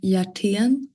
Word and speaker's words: Hjertén: So it's actually pronounced with a J, like Hjertén.